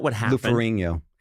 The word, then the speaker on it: Ferrigno: Lou Ferrigno. The GN makes like a nya sound like gnocchi.